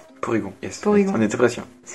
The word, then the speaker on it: Porygon: Pyrogon 2. Porygon, yes. Porygon. On était presque. Une syllabe.